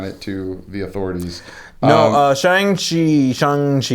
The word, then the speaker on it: Shang-Chi: No, Shang-Chi, Shang-Chi, you pronounce the A like a U. Yeah, Shang-Chi.